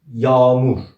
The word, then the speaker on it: yağmur: Let's ignore soft G in this word and let's make "A" double. How did we pronounce A in Turkish? "A". Let's double and read it again. "YAAMUR".